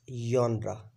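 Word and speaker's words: genre: a yra g n r e will be pronounced as yra okay students uh the starting point uh is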